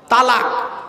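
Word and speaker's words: طلاق: পাচ্ছে না শব্দটা কিন্তু তালাক নয় শব্দটা তালাক নয় শব্দটা হলো তলাক কি বললাম তলাক তলাক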